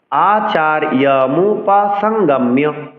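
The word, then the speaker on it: আচার্যমুপসঙ্গম্য: অনুসারের পরের ব্যঞ্জনটি যদি বর্গীয় বর্ণ হয় অর্থাৎ ক থেকে ম পর্যন্ত বর্ণ হয় তবে যেই বর্গের বর্ণটি বসবে সেই বর্গের নাসিক্য উচ্চারণ করতে হবে।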